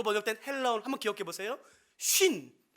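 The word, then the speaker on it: σύν: 쉰, 그러니까 발음이 똑같아요. 50을 의미하는 한국 단어와 똑같습니다.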